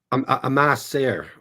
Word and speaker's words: Ma sœur: Ma sœur.